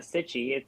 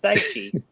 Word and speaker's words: Saichi: It's not like a rash. It's not Sitchy. It's Saichi.